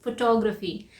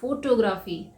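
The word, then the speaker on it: photography: हम क्या कहते हैं फोटोग्राफी लेकिन हम इससे क्या बोलते हैं फोटोग्राफी नहीं इसका सही प्रनंसीएशन है फोटोग्राफी टेक्स्ट वर्ड है इसका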